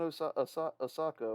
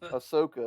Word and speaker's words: Ahsoka: Um, Speaking of like turd bombs that should be good, man, I'm not watching Osaka, whatever he says. Oh, how do you say her name? Ahsoka.